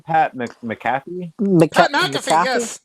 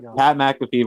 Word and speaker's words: McAfee: pac pat how do you say his name pat mccaffey mcafee pat mcafee versus adam cole at nxt takeover just because